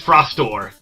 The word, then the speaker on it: Frostor: It's not Froster, it's Frostor.